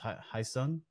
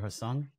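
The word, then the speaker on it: Hae Sung: childhood sweetheart boyfriend, and I think it's pronounced Hai Sung or Hasung, and then her husband Arthur.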